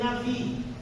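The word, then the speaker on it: נביא: Se escreve Nabi, mas se lê Navi.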